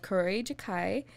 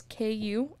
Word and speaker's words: Kuroi Jukai: Anyway, so basically this all started with a mystery novel called Kuroi Jukai. I don't know if I pronounced that right. It's K-U-R-O-I-J-U-K-A-I.